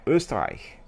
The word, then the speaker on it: Österreich: He said, oh yeah, the pronunciation of Österreich was correct, right? Österreich. So that's quite good.